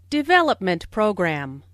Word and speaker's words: development program: Development program. Since these two words make a compound noun, the main stress falls on development.